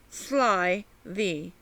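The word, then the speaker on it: slithy: on that point also the pronunciation of slivy as if it were two words sly thee i make the g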